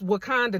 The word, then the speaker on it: Wauconda: So it's it's Wakanda, not spelled with a K. is spelled W A U C O N D A Illinois, zip code 60084, area code 847 or 224.